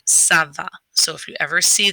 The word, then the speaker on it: ça va: what it does is it turns a hard c or a k sound into a soft c or an s sound so instead of saying kava we're going to say saba so if you ever